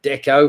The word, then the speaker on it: Deco: Number 6, of course, was deco, that art style, and also the name of that Portuguese footballer, deco. Of course, that rhymes with gecko somewhere.